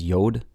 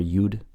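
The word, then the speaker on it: יוד: Some people pronounce Yud as Yod. I prefer Yud.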